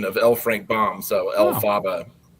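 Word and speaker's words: Elphaba: So, it's like a kind of a phonetic pronunciation of LFrank Bomb. So, El Faba.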